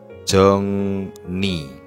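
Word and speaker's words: 정리: jejariye pada tempat semula jongri cara bacanya Jong ni jongni jongdunel had artinya merapihkan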